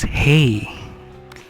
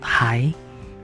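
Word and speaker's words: hai: And then this one is hey, it's not high. For German, read this word high, so in Indonesian it's not high but hey.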